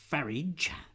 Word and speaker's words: Farage: Anyway, Nigel Farage, because I'm always told it should rhyme with garage, so we're going to call him that, I think, from now on.